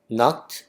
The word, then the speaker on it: knocked: knocked on the door 하면은 노입니다 노크 앞에 있는가 소리가 나지 않아요 크 크나 아닙니다 우리 노 알다 할 때도 앞에 K 있는데 발음이 안 나죠 그냥 N 발음 바로 no 나잖아요 여기도 마찬가지입니다 K 바라